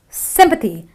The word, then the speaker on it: sympathy: So it is sympathy, not sympathy or anything else, or sympathy, but it is sympathy. It's a short eh, sympathy.